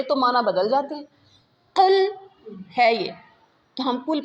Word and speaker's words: قل: تھا، قل کہہ دیجئے، قل قاف موٹا ہے، نقطوں والا قاف موٹا قاف ہوتا ہے، قل کہہ دیجئے، ایک ہوتا